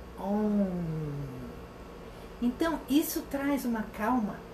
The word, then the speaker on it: Om: um todo tempo repetindo essa pequenina sílaba oi mas a gente pronuncia como um então isso traz uma